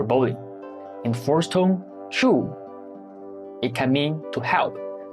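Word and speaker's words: 猪: example Ju when pronounced in the first tone zhu it means pig an animal in the second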